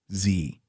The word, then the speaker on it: Xe: In February 2009, Blackwater Worldwide officially changed its name to Zervices LLC, pronounced Z.